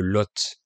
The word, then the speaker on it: Lot: L'un de ces départements s'appelle le Lot. Ça s'écrit L-O-T et dans ce cas, le T final se prononce. Alors qu'avec le nom commun le Lot, L-O-T, qui veut dire